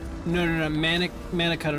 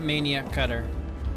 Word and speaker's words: mana cutter: No, mana cutter, not maniac cutter.